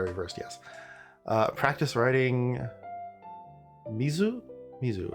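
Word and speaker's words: 水: Mizu, the kunomi for mizu is mizu. So when you see the kanji mizu standing by itself, you read it as mizu.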